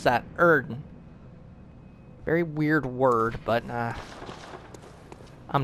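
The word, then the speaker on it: Oedon: Yes, that is how you pronounce that. Erden.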